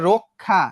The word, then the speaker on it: রক্ষা: তো এই যে রক্ষা, দেখো তো রক্ষা, র এর সঙ্গে একটা অযুক্ত ছিল না? হ্যাঁ অযুক্ত ছিল, এবং অর পরে কি আছে? ক্ষীয় আছে, তাহলে উচ্চারণটা কেমন হবে? রয়ে ওকার ক ক্ষয় আকার, রক্ষা।